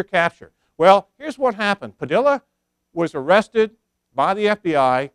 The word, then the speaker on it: Padilla: three years refer to him as ho je padilla my wife is fluent in spanish and she says double-l you pronounced like a Y and I think most